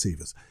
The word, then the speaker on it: Sivers: guy called Derek Siver's I think his surname was pronounced severs and he came up